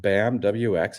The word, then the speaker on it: BAMWX: the Futures podcast I've got Brett Waltz with bamwx am I saying that right Brett is it